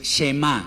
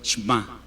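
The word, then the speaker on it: שמע: como un salto entonces no es shema sino shma una e cortísima con la práctica lo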